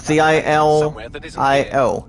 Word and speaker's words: Gilio: That's pronounced as the last name, guys, Gilio.